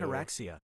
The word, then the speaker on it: ataraxia: Let me listen to this again just so I can Ataraxia is pronounced ataraxia.